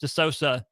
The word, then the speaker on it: De Sousa: It looks like De Sousa. It is actually pronounced De Sousa, though.